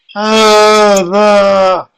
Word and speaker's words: هذا: Over here, this word, there's no alif on it, but as we've seen from the Dars al-Awwal, it's pronounced as if there is an alif. It's not written, but it's pronounced. So see that alif that I just drew there, the small one? That shows that you're going to say, هذا.